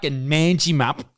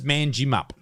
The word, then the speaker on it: Manjimup: oh Manji map stupid name I still don't think that's how it's pronounced it's manjimup manjimup Benji mangy they call